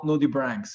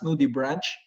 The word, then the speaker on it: nudibranch: so in plural nudibranchs if it's singular if it's only one um you may pronounce it as nudibranch okay so others they may call it or pronounce it as nudie branch but in a correct way it sounds like or it sounds uh to be nudibranch for singular and also nudibranchs for plural so nudibranchs are mallas